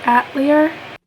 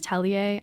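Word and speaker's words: Atelier: It is aellier. I know that. I'm so sorry. I mispronounced it so many times.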